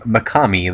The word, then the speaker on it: Mekhami: So today's Rager is none other than a guy named Makami, that is spelled Mekhami.